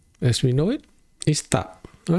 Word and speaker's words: tak: How to pronounce it is like tak without the sound of the K. It just stops there, right? Okay, tak, right? The K is not sounded, right?